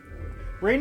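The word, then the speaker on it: Raine: Rain is spelled weird, so I mean, it kind of makes sense. It's just, like rain, like storm rain, but with an E at the end.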